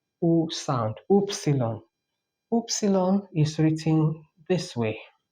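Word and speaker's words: upsilon: just to is is T and um the 20 F letter is oopsilon I know we had epsilon before which is a sound but this is oopsilon so it's oo sound oopsilon oopsilon is written this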